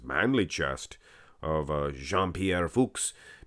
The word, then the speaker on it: Fux: chest of uh jean-pierre fuchs big fuchs you guys sometimes pronounce it the other way the bad way shame on you guys